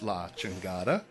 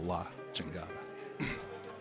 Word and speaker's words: La Chingada: So it's still pronounced La Chingada, but the sign for it, which is up and it looks really good, says La CH period Engada. So it's still La Chingada.